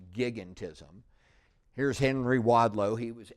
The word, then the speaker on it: gigantism: It looks like giantism, but it's actually pronounced gigantism.